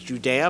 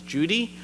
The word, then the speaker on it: Judea: You might pronounce it as Judea, but they pronounce it as Judy.